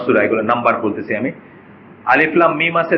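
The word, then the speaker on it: الم: কি বলি, আল বলি, কিন্তু এখানে আল বলবো না, এখানে কি বলবো, আলিফ লাম মিম, মানে আমরা আলাদা আলাদা করে উচ্চারণ করবো, অক্ষরগুলোকে উচ্চারণ করবো, ডিসজয়েন্ট লেটার বলে এটাকে।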